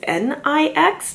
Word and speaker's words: NYX: NYX, I believe, although it's spelled NYX, there's a goddess whose name is NIX, NYX in Greek mythology?